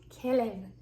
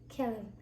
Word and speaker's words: כלב: Kelev. Kelev.